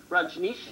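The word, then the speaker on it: Rajneesh: the way look at ban R Nish is the correct pronunciation Raj Nish Raj Nish Raj I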